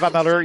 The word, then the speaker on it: Amalur: Kingdom of Amalur or Amalar? I think it's pronounced. Kingdom of Amalur, yes.